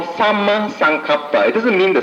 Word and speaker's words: Samma: Samma is spelled as S-A-M-M-A, not S-A-M-A, Samma.